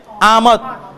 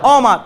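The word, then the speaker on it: آمد: এটা হচ্ছে উর্দুতে আমদ, ফার্সিতে অমাত। ফার্সিতে উচ্চারণ হচ্ছে অ, আর উর্দুতে উচ্চারণ হচ্ছে আ, তাই এটা হবে আমদ।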